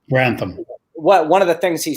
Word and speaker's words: Grantham: next point, and that Jeremy, how do you pronounce his last name? Grantham.